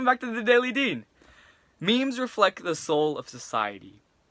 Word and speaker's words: meme: it and that's where the term meme actually comes from it rhymes with gene and it shows you